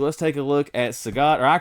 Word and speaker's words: Sagat: We're going to start with, I'll call him Sagat. I know that's the popular pronunciation, but again, since I was a kid and the World Warrior came out, I've called him Sagat. All my friends have. I guess Sagat would be like Bob Saget with an E.T.